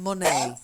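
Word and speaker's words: Monet: luck yeah Pollock and money money money money silent e french painter might one of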